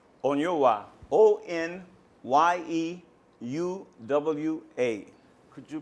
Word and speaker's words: Onyeuwa: My name is Onyeuwa. Spell it. Okay, is M-M-A-D-U, Onyeuwa, O-N-Y-E-U-W-A.